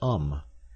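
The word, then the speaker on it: homme: a piece of bark he learned from darneau that it was pronounced um and in the same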